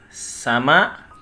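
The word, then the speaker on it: さま: Nah, kalau dalam huruf hiragana ini titik-titik ini sama ya, sama. Dalam tulisan kanjinya ini sama ya, seperti itu. Sama ya, sama juga. Ini dibacanya sama, hiragana ini sama.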